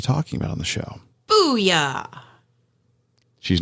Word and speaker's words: Bulla: Booyah! She's not just making an exclamation, folks. That's the name of the restaurant. When you look at it, it's not spelled like that, but that's how it's pronounced.